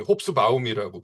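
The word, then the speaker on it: Hobsbawm: 에릭 홉스봄이라고 하는 역사가가 있습니다. 본토 발음으로는 홉스바움이라고 불러줘야 한다라는 건데, 이분이 이제 19세기 3부작으로 유명을 해요.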